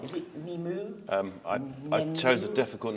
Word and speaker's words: Nemu: Is it Nemu? I chose a difficult name to pronounce. You should, yeah. Nice. Nemu.